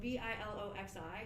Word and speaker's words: Biloxi: to i don't it was in biloxi so b-i-l-o-x-i like i was like how do you even pronounce it how it blocks what is this